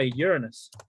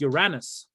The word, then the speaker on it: Uranus: We're going to stop by Uranus, which is how it is pronounced. In fact, if you wanted the original pronunciation is Uranus. Uranus, the god of the sky.